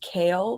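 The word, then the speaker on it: Chaol: apparently one of the characters names is it's pronounced kale but it's spelled CH h o a l like CH uhuh and I was pronouncing it Cho the entire time and then I saw people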